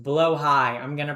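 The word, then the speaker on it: Blåhaj: I know it's I know it's pronounced blowhigh. I'm going to pronounce it blahaj.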